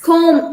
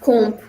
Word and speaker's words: comb: These words here, the B sound here in all these words is silent. So it's climb instead of climb. It's comb instead of comb.